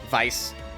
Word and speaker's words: Weiss: well it's actually pronounced Weiss Vice because it's German for white um seriously when the